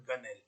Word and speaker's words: gunwale: When deck plating joins shell plating, this part is called gunnel, spelled gunwale, Gunwle, but normally it is pronounced as gunnel.